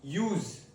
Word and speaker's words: use: The first one, use, use, use. Ending in SS, use.